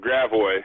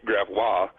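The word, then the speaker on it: Gravois: everyone pronounces incorrectly uh there's a great called grao which should be graa and uh a street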